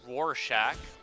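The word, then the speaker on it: Rorschach: But my name is pronounced Roarshack.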